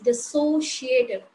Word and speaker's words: dissociative: from pronunciation HUD as sometimes we may pronounce the first letter as first word as dissociative but this is not the societal this is dissociative even an us language